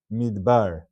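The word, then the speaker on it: מדבר: This would be considered a Sheva Nach, and it's read as Midbar. Midbar. Two syllables, Midbar.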